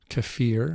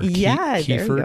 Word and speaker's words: kefir: else that's Dairy um there's cfir or kefir depending on who you are and where you live and how you pronounce that word yes yeah it's more